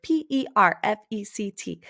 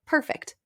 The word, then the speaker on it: perfect: it, write the word P-E-R-F-E-C-T. They look the same, and it looks like perfect. But one, you can pronounce it perfect, and the other you pronounce perfect.